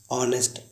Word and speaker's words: honest: ऑनेस्ट, HONEST, ऑनेस्ट, ईमानदार। अब guys बात करते हैं जीएस कब साइलेंट होता है?